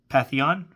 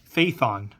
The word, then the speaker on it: Phaethon: Pantheon? I'm going to look that up. Phaethon. I would have butchered that.